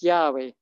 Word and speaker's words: Yahweh: yad yad and uh so and it's to pronounce it is yahweh now when we uh breathe this air we